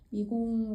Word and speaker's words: 미공: 장면을 이제 담아본 것이고 미공 같은 경우는 이제 미공이 미궁이라는 단어의 중국식 발음이에요 그 미궁이라는 단어 자체가